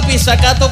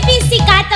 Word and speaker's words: pizzicato: Me ha dolido la pizzicato, ¿qué es eso, Jesús? Se dice pizzicato, José.